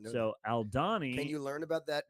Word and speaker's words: Aldhani: Alani. Aldhani.